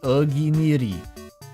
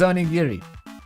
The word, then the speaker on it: onigiri: Oginiri. Is it oginiri, or did she say it wrong? I thought it was onigiri. Onigiri. It was onigiri.